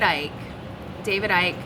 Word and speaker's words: Icke: David Icke, if you want to look him up, I think it's spelled I-C-K-E, guy from the UK, coined this phrase, and it is a point of attention.